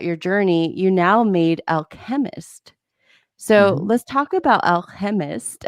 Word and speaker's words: Alchempist: no it's good and it's actually pronounced the alchemist so like based the